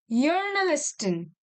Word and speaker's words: Journalistin: This is a journalistin. You will not say J here because J is pronounced as Y in German.